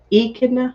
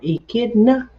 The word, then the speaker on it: echidna: taste e kid okay so where's the emphasis the echidna or echidna or a kid it depends on where the emphasis is on how you say it all right you got